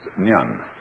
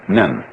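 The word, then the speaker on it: 念: They have a very interesting sign this it's pronounced nyun in Japanese nin and the top part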